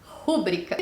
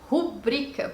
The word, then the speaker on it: pública: carteirinha da biblioteca municipal que as pessoas falam que é o que publica e à verdade a gente diz pública porque não tem nenhum a 101 para o xxi tona portanto a sílaba tônica é a penúltima um brinca essa é a